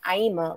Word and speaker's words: Aima: the states and so i would always be like aima like dreama and then i was like that's nice you know there it is where does that name come from aima comes from a book